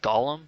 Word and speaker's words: golem: a very good technique i always thought that it was pronounced golem but these guys say it like gollum as in like you know stupid fat hobbit that girl lady friends